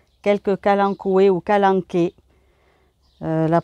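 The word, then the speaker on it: Kalanchoe: c'est pas toujours évident moi j'ai pris l'habitude de dire qu'alan coué mais je pense que la vraie prononciation ses calanques et mais bon moi vous m'entendrez sûrement dire qu'alan coûts et parce que c'est une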